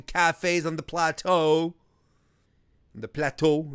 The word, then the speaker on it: Plateau: up all the cafes on the plateau the plateau like he said it that's how you're supposed to pronounce some friends mean when got some bagels